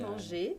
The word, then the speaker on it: manger: esse som de en, que é o mesmo som que o encore, tá vendo? En. Se escreve diferente, né? E-N-A-N, só que o som é o mesmo. Não é manger, né? Não. Exatamente. Manger. É tipo quase um O, né?